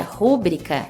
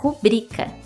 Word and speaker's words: rubrica: super dica de pronúncia pronunciar rúbrica está errado pois essa palavra não é uma proparoxítona e sim uma paroxítona Portanto o correto é pronunciar rubrica cujo significado é assinatura